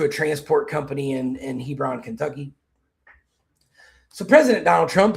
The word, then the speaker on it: Hebron: I don't know if you guys pronounce it Hebrin or Hebron. Um, here we have one here in Georgia that's it's a private school in metro Atlanta. Um, that's we pronounce it Hebron here. So, Hebron. Yeah, you're going to see